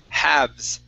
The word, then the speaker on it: halves: This word here is halves, halves. Halved. Yeah, so that L is silent, halves.